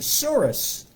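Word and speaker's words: tsuris: know the definition of the word spelled t-s-u-r-i-s and pronounced soros if you are jewish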